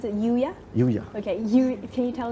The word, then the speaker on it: UYA: can you tell us more about how to pronounce it Yuya Yuya okay can you tell us more about